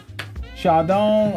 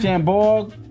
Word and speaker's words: Chambord: These are the holiday blackberry cocktails, and it's Chardon, or how do you pronounce it? Chambord.